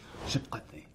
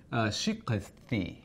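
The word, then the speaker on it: shikati: So it's like you hear him say, shikate, shikate. That's the word for iron. And it's supposed to be shikathi. Shikathi. Like that, but he says chikate.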